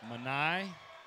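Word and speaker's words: Mani: This will be two again for Manai. I'm sure it's how you say his name. Donk. M-A-N-I. Manai.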